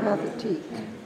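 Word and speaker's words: Pathétique: It's Pathanique, I think is the way you pronounce it. Do we have that, Don? Wake up, brother. Pathetique.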